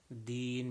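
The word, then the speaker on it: دين: وَلِيَ and then deen, making sure the dal sounds like a dal and not like a ta.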